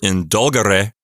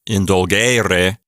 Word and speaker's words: indulgere: If it were indulgere, that would mark it as third conjugation with a short E, and then the accent getting moved to the third syllable from the end. That would make it third conjugation. But here with this long E in the infinitive form, 3 from the end, indulgere, that's second conjugation.